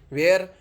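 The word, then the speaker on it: where: ह साइलेंट बन गया ज्यादातर स्पेलिंग में व के तुरंत बाद ह का उच्चारण नहीं होता है जिसे ए इसमें भी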